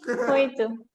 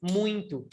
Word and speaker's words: muito: Muito. Muito. But everybody pronounces like this. Muito. Yeah, exists an Muito. N, a silent N inside of it.